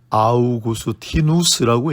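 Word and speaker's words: Augustinus: 헬라어로는 아우구스티노스, 라틴어로는 아우구스티누스라고 읽습니다.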